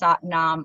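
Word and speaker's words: Sat Nam: meditation practice and so we're breaking down the phrase satnaam into its its syllable parts I guess so it's the way it's done is we say in silent to ourselves say ah na ma that's satnaam all kind of broken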